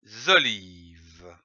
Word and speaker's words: olives: Les olives. Ici, attention, à olive, on ne prononce pas le S final.